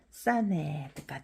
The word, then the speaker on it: เสน่ห์: 얘는 있지만 요 위에 묵은 표시가 있으니까 얘는 발음을 안 해요.